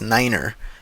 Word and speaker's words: niner: For instance, the number three is pronounced as tree and nine is pronounced as niner.